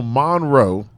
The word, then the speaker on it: Monroe: So Monroe. Like what- sun and Monroe. Monroe. Yeah. Even though it's spelled M-O-N, it's Yeah. Monroe. Monroe.